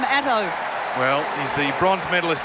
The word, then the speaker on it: Ato: championships there's ato been some conjecture about how to pronounce his name but david colbert did go up and ask him the other day and he said it's not auto i'm not a car it's not otto i'm atto well he's the bronze